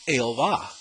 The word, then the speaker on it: Jehová: First, the Bibles here in Puerto Rico, the ones that are in Spanish, have the name Jehová. The Spanish pronunciation of the word Jehovah. Throughout their Bibles, from beginning